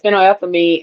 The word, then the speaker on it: phenylethylamine: it fin la how that fin la yeah, phenylethylamine. That's what yeah, that looks like. yeah, Phenylethylamine. yep. Okay, And that puts the so is the that is love. one. Yeah, it contains compounds like phenylethylamine and trip tryptophan, which trigger feelings of pleasure,